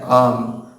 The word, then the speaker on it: ओम: तो हम जो ओम कहते हैं उसकी सही उच्चारण है अम, आ, ऊ, म। तो उसकी उच्चारण कैसे करेंगे, पहले मुंह खोल के आ, ऊ, ऐसे उच्चारण किया जाता है ओम की।